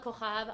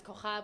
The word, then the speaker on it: Cojab: Reach out to me via Instagram, Cojab. I know it doesn't sound like it's spelled. My last name is Cojab with a J.